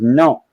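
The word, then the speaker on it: non: no o n but you don't pronounce the N at the end it's just no you know like that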